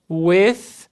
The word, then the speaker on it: with: I live in São Paulo with, som do TH, língua entre os dentes, ar passa livremente. I live in São Paulo with my wife and 2 children.